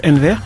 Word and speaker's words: Enver: Alors c'est Enver, hein, c'est ça? Exactement, ouais. Voilà. Enver. C'est particulier, c'est un prénom turc, très joli, très sympathique, mais très rare également, qui se prononce Enver.